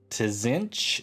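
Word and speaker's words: Tzeentch: pronouncing this right because they put a couple of consonants in a row here so it's uh to zinch it's t t-z-e-e-n-t-c-h he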